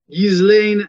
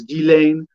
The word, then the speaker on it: Ghislaine: Jeffrey Epstein confidant Ghislaine, and the pronunciation, I think the proper French is Ghislaine, was arrested Thursday morning in New Hampshire.